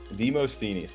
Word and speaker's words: Demosthenes: you go um there's actually an additional way for all the Greek guys how are you gonna throw that in there a little bit actually let's see if you remember how to say it properly let's give it a shot but not uh the Moss uh is it stinny's yeah the most teenies there you go yeah I want I